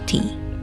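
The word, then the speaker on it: 茶: The Mandarin pronunciation of tea, cha, spread mainly through overlord routes, so many languages along these paths adopted a similar sound. Meanwhile, the Min Chinese pronunciation te from China's southern eastern coastal regions spread through maritime trade and became the root of the word like tea in the West.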